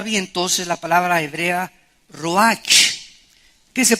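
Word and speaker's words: רוח: entonces la palabra hebrea Roach que se pronuncia ro La ch en el hebreo se pronuncia como j y que es la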